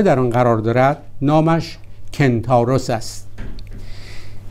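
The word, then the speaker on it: Kentauros: هم اختران یا صورتی که نزدیکترین ستاره در آن قرار دارد نامش کنتاروس است. این نام یونانی را در عربی گرفتند و قنطورس تلفظ می کنند.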